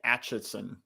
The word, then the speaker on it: Acheson: His name is pronounced Dean Acheson. Well, there you go. That's his fault for having a word that starts with ache and ends in son.